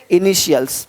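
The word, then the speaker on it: initials: ब र देखो तो टी का ध्वनि श होता है देखो क्या बोलते हैं इनिशियल्स अब यहां पे टी है इनिशियल्स नहीं बोलते इनिशियल्स इनिशियल्स इनिशियल्स यानी इसी टी आई को जब टी के बाद आई ए हो आई ई हो आई ओ हो तो उसको श पढ़ते हैं श तो क्या पढ़ेंगे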